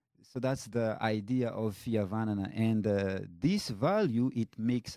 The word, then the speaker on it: Fihavanana: unique value that we hold dear, which is Fihavanana. Can you pronounce that a little bit? Fihavanana. Fihavana. Fihavanana.